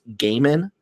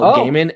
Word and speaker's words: Gaiman: Britton wants to let you know it's pronounced Gaiman. Neil Gaiman.